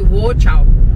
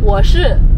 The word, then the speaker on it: 我是: It's not Wo Chao. Wo Chao. How do you say I am? 我是. 我是. Oh, Wo Chao. Wo Chao is almost a bad word.